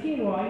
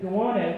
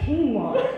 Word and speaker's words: quinoa: he also pronounces quinoa, you know, like the food, guano for some reason.